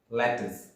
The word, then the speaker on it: lettuce: latitudes but let me tell you the correct pronunciation of this word is lettuce it is green leaves used as uncooked salad